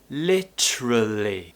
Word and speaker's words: literally: other accents are available we can actually shorten it and we can just say literally literally literally literally so this